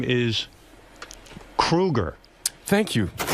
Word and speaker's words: Kruger: And Chad, you know, your last name is Kruger. Thank you. I don't know if you pronouncing it wrong. That's how you say it.